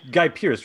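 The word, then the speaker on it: Guy Pearce: character by making the joke it is guy guy pierce right memento am i saying his name wrong uh no that's right yeah yeah okay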